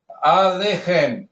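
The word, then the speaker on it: עֲלֵיכֶם: Alechem, shalom alechem, shalom alechem, shalom alechem, alechem. Ou seja, sílaba maior está aqui, tá? Essa aqui é a sílaba menor.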